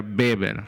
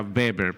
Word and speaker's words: Weber: Se escribe Weber, pero se pronuncia Weber. Recuerde que es alemán este hombre y se pronuncia Weber, porque la W al inicio se pronuncia como B, Weber, Max Weber.